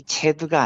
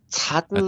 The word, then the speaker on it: 차드: 그 나라 이름이 체드가 아니고 차드라고 차드예요, 하더라고요.